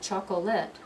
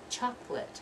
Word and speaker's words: chocolate: kimono I like this it's not chocolate I like chocolate huh chocolate only two syllables so let's read these